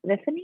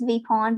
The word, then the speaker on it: Vipon: wrong, but the phone, Viffany? Is that right? It's Vipon, but you can call me.